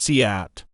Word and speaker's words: cout: The cout is pronounced cout, and full form is character output.